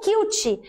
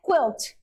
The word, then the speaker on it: quilt: você passa Vip vaporup Você pode falar cute e cutin não tem problema tá mas em inglês a pronúncia é quilt coberta colcha mas se